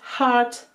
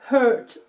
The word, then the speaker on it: heart: Ce mot se prononce heart et non pas hurt, s'il vous plaît, pour mes oreilles de prof d'anglais, faites gaffe.